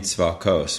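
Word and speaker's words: צבאות: So the name Tzvakos, we say, but it's spelled with an aleph, is that Lord of hosts.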